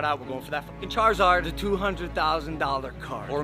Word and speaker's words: Charizard: was dressing josie up like a charizard it's pronounced charizard i don't care what it is bro stop